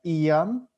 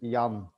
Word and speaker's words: Jan: the english murder song pronouncing my name it's like iam or yan uh but here is just yam yeah and you always say yawn yeah okay so let's